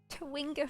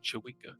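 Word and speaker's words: chwinga: Civic look what's that twinger footprints you know you're saying it wrong Mike what it's it's chewing up with a CH schwinger yeah it's chewika twinga is cute should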